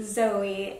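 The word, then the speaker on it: Zoë: no li My name is actually Zoe and there's supposed to be like a accent above the E to make it a long e you know but it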